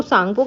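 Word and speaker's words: Tsangpo: तो सांगो के नाम से इसमें टी साइलेंट है।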